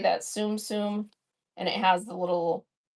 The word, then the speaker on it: Tsum Tsum: Tsum Tsum, and it has the little Disney characters on